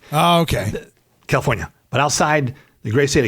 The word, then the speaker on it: California: People tell me I don't pronounce the R in California enough. So I like to just say California real quick. Oh, okay. California.